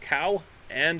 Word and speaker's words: Cowan: my name is cohen cow oh pronounced cow and an anne cowan okay cowan feel